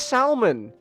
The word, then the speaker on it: salmon: on you I'm saying I always thought the l i you pronounce the L cuz everyone in my family says the L that's just how we pronounce it salmon I I never once